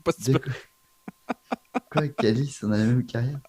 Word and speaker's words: calice: Tu sais, le calice, mais nous autres, on dit calice. Le A au Québec se prononce A.